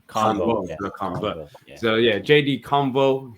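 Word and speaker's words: Canvot: How do you pronounce it again, the surname? Convo, like conversation. Convo.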